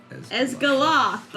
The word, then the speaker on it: Esgaloth: Esgoloth. I really need to put the emphasis in certain spots, guys. Esgaloth.